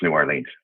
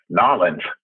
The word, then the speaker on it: New Orleans: I'm actually in New Orleans, Louisiana, and I mispronounced New Orleans. Narlands, I think is the way they like to say it here.